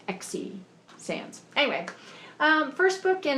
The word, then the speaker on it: Xe Sands: how you say it it's spelled X e and I would pronounce that Z but I think it's XE Sans anyway um first book